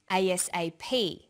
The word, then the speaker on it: ASAP: is pronounced separately but the last letter is pronounced more strongly because it carries the primary stress so we say USA ASAP ABC and TV listen